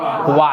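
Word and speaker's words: は: যখনই এই হা অক্ষরটা বাক্যে পার্টিকেল হিসেবে আসবে তখন এটার উচ্চারণ হবে কি ওয়া।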